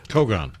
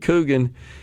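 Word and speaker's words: cogon: our way there and many listeners have corrected me on my pronunciation of this invasive Grass kogan kogan Grass I apologize I called it kougan and that's on me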